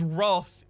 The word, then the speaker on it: wrath: And yes, it is Wrath in my accent. No, I'm not saying the wrong word. This is the British and Australian pronunciation of Wrath.